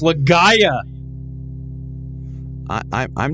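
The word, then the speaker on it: Legaia: It's Legaya. It's pronounced legaaya.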